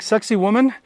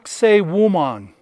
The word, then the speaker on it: Sacsayhuaman: is yeah i know it sounds like sexy woman but it's sake woman that's the actual pronunciation of it so here we go